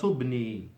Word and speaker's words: ابني: You don't pronounce the همزة الوصل because it's in the middle of the sentence. So you go straight to the ba. هذه صورة ابني، هو طالب.